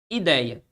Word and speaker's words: ideia: Ideia, beleza? Ideia, recebia a acentuação nessa posição. Se você analisar comigo, você vai perceber que ideia aqui é uma paroxítona.